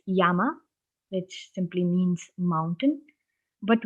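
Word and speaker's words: 山: for example this single kanji has three different pronunciations when this kanji is by itself it's yama which simply means mountain but when you add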